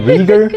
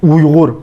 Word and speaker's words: Uyghur: myself to a black dude and I said Uyghur. I know where this is going. Is there a better pronunciation of it? Uyghur.